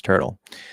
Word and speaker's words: turtle: When we have that the UR spelling is generally most commonly just going to be pronounced okay. Remember the way I teach you guys that is a consonant and a vowel.